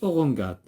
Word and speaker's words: orangeade: légumes légumes ici orangeade orangeade orangeade لو أنه ما كانتش il se prononce orangade.